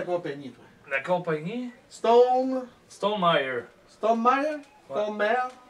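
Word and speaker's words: Stonemaier: Stone Meyer. Stone Mare? Ouais. Stone Mare? Meyer. Mare? Meyer. Ah! Le chum, mon beau-père, il s'appelle Meyer, puis c'est comme ça se Le prononce.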